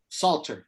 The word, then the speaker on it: psalter: in the past altar salter the psalter silent p falter many of these